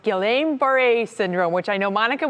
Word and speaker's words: Guillain-Barré: Guillain-Barré, thank you. Yeah, that's how you say it.